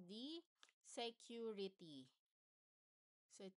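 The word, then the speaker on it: Sécurité: So another one for the safety messages is what we call the security. So it pronounced as security.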